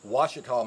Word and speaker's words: Ouachita: washed down from the ouachita mountains ouachita is spelled o-u-i-c-h-a it's an indian word the washikaw mountains about 20 to 30